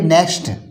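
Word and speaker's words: next: लिए रूल य है रूल नंबर वन है एक्स का उच्चारण किस होता है जब किसी शब्द में एक्स के बाद कोई व्यंजन आए तो एक्स का उच्चारण कस पढ़ा जाता है जैसे एनई एक्स टी देखिए एक्स के बाद यहां पर व्यंजन आया है एक्स के बाद व्यंजन आया है तो इसको बोलेंगे नेक्स्ट अदा का सा नेक्स्ट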